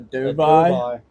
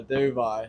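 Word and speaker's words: dovii: One of those being a dove eye that I'm very excited about. I Okay. got a a dove eye, Dovi.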